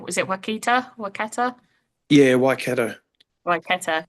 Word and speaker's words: Waikato: Yeah, so you're now playing for I'm going to ruin the pronunciation. Was it Waikato? Waikato? Yeah, Waikato.